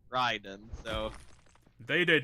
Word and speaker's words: Raiden: the 90s so they did not know that it's supposed to be pronounced Ryden so they did not